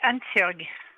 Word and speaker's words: Hansjörg: Alors c'est Hansjörg. Hanshorg.